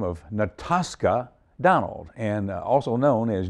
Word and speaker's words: Natascha: Now, Natascha. Yes, that's sir. That's a little different way of pronouncing it because it's a German pronunciation. Yes, sir. Natascha.